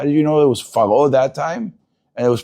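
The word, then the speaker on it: פרעה: If it has an Aleph, Vav, Yud, or a He, those 4 letters right before the Pe, it makes it Rafa. It makes it non-Dagesh.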